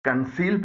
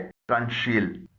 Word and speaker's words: conceal: इस कायदे से कुछ इस्तिस्ना यानी एक्सेप्शंस भी हैं, जैसे CONCEAL को कंसील पढ़ा जाता है, न कि कंशील।